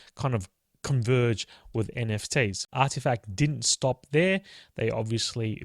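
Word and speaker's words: RTFKT: But I've since learned it's pronounced Artifact. Now you can sound clever and smart to your fashionista friends. You can tell them that's pronounced Artifact.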